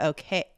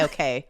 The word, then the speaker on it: OKeh: recording vaudeville songs for OK. I want to say OK. I think it's okay, but it's spelled very fun. It's spelled OKEH, but I'm just gonna go ahead and plow through with OK.